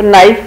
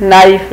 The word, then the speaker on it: knife: और ये क्या है, छुरी को क्या कहते हैं इंग्लिश में, नाइफ, तो नाइफ में के साइलेंट है, आप KNIFE नाइफ रीअरेंज करेंगे तो ये बन जाएगा नाइफ।